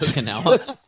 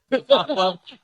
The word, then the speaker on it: Okonkwo: Okonkwo? You said Okinawa. Couldn't let that slide. Okonkwo had 0.